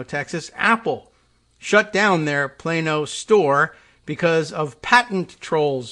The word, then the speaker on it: Plano: that we knew about the pronunciation of plano texas yes it is plano not plano as uh you might read it in in pigeon spanish but okay and a